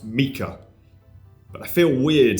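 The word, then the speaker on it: Miche: Next is the Meech Carbograph, which is actually pronounced Mika, but I feel weird saying Mika, so I'm just going to say Meech.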